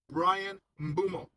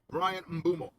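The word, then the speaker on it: Bryan Mbeumo: Brian Mumo. All right. Brian Mumo.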